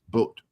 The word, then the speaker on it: Boot: It's Das Boot, not boot. Yeah. Boat. I said it right. It's a ship, not a shoe.